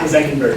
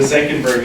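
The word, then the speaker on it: Senckenberg: The Zenckenberg Institute. The Zenckenberg Institute.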